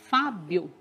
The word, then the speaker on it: Fábio: Que aí, pronunciando tudo junto, fica Fábio. E o acento, né? Porque a gente fala bem mais forte o Fá.